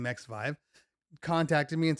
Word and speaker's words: XVIVE: Fast forward to maybe a couple of weeks ago, and the company XVIVE, I believe that's how you pronounce their name, XVIVE, contacted me and said, "Hey, we want you to review our products."